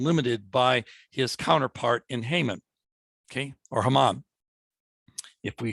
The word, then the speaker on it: Haman: And then we have the evil one, Haman, or Haman, as we pronounce his name.